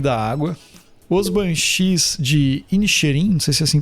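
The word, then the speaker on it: Inisherin: A gente tem nada de novo no Fronte, Avatar, o Caminho da Água, os banchis de Inerim, não sei se assim pronuncia, Elvis. Inxerim, Inxerim.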